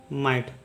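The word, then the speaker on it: might: का उच्चारण आई होगा और जी एच साइलेंट हो जाएगा और टी का उच्चारण ट होगा ये हो जाएगा माइट तो इसे पढ़ेंगे राइट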